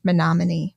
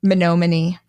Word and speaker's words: Menominee: Craig didn't tell anyone, but eventually reached out to Finding Bigfoot, and the crew headed up to the mispronounced Menominee, Michigan. Oh, no. Menominee.